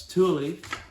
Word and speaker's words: Thule: here is we've got a wait for the pronunciation thule uh not thule uh it's thule uh so we've got these guys here uh